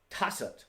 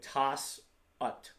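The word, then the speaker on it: 다섯: Tassat, that's why I spelled it this way, tas-ut.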